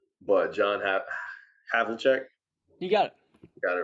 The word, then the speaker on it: Havlicek: Number 7, I have a hard time pronouncing the name, but John Havlicek.